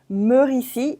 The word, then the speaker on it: Meuricy: Meuricy, it's the way I would pronounce it properly the name, Meuricy. And it's a play on words because when you think about it, it's like meurs ici, which means die here.